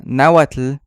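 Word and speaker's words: náhuatl: y No necesariamente naat Recuerden que el naat siempre tiene el énfasis en la penúltima sílaba cuando dicen naat realmente son tres sílabas que les están agregando y no dos y esto es todo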